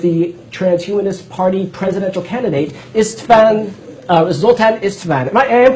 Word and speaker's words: Zoltan Istvan: So we are actually talking right now over Skype with the Transhumanist Party presidential candidate, Zoltan Istvan. I am pronouncing your last name correctly, correct?